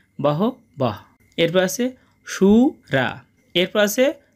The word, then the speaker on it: বহবঃ: আমরা জানি শিক্ষার্থী বন্ধুরা যদি বিসর্গ কোন বাক্যের মাঝে থাকে তার জন্য অর্ধেক হ উচ্চারিত হয়। সেইজন্য এখানে হবে বহ বহ।